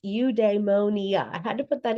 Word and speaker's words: eudaimonia: So it is pronounced udemonia.